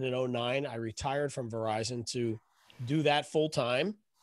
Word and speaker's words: Verizon: say the name but it rhymes with horizon starts with a v right sure um no i can say the name it's verizon so i worked for